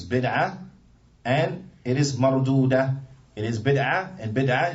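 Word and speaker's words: مردود: So marudud is spelled mim, ra. Dal, waw, dal. Naam. Marudud. And it's on the wazn of what? Maf'ul. Marudud, maf'ul. It's on the wazn of maf'ul. طيب. So it's mardud.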